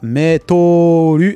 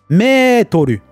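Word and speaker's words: メートル: Mais c'est pas Metolu. Ah oui, là, ça, petite correction sur ma prononciation. Metolu. J'ai dit Meto. J'ai allongé. Metolu.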